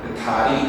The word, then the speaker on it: 다리: 이렇게 그 바보면 달리 달리 하면 위로 올라가지 다리 다리 하면 혀가 안로 내려가지 달리 다리 달 달리